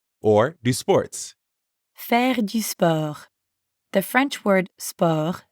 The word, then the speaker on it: sport: english word sport but we don't pronounce the t at the end and we use that french e sound again let's try practicing repeat after me leland fair to spur now it's your